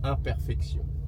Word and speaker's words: imperfection: the m in French the two letters i and M makes the sound oh for example the word imperfection is written exactly the same in French and you have to say imperfection okay H yes h